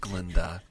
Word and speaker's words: Glinda: Glinda, she's just Glenda. Don't give her that extra syllable.